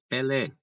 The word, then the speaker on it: Pelé: Ou então, Pelé, né? Pelé, que é um grande jogador de futebol. Pelé tem a tonicidade na última sílaba, é uma oxítona, e terminou em E, logo Pelé, ok?